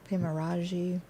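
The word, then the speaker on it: Pemmaraju: pronounce her last name p-e-m-m-a-r-a-j-u pimaraji sounds closer than i could have ever but that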